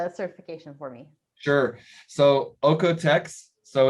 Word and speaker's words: OEKO-TEX: for me sure so ocotecs so it's a german um austrian foundation so it's uh that's where the the pronunciation comes from and it really means